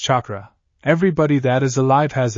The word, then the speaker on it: chakra: very excited if this Catra thing could help him find his family he would learn all about in no time he liked to learn anyway I guess not she chuckled it's pronounced chakra everybody that is alive